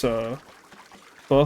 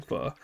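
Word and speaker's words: phở: Oh my god, I made this, pho flavored ramen today.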